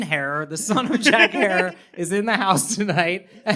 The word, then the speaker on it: Herer: about we talking about jack hair rhymes with terror oh